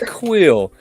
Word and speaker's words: Kuiil: Because on here it says Kuiil. Just curious. Quill. guys, 'cause- It's Quill. Quill. Oh, look at Quill. that's Pronounced not JK.